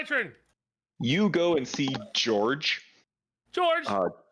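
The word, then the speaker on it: Djeorg: you go and see George George uh just to remind everyone that is spelled DJ e o r g George George George I love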